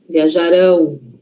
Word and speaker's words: viajarão: E o futuro? Futuro não é lá na frente? Então, a sílaba forte está lá na frente. Viajarão. Viajarão.